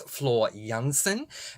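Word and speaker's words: Floor Jansen: serame starts with j she was born in Holland so the J is pronounced as a y so it's Flor Jansen and uh the band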